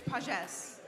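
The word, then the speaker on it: Pagès: Technically, there's an accent over the E, so it's a little different. So how is it said? It's Pages.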